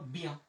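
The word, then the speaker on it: bien: তো এরপরে আমাদের আরেকটা বরযাত্রী, সেটা হচ্ছে ই ও এন, থাকলে উচ্চারণ আমরা করি ইয়া, ইয়া। তাহলে এখানে আছে ইয়া, আগে আছে আমার একটা বের জন্য নিলাম ব, আর এখানে আমরা লাগাই দিলাম হচ্ছে ইয়া, তাহলে হয়ে গেল বিয়া, বিয়া।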